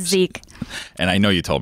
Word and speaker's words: Zich: don't know I'm uncomfortable saying it wrong it's Zeke and I know you told me that before